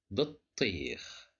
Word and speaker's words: بطيخ: It's because we have shadda. Okay, so here we have ta with sukun, and the second ta is with kasra. So that's why we pronounce it as بطيخ.